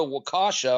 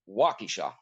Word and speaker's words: Waukesha: the victims of buffalo but wouldn't go to wakasha or wakisha i'm not sure how to pronounce that waukesha okay and but he wouldn't go there and